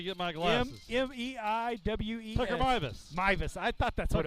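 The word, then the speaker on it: Meiwes: Tucker Mivas.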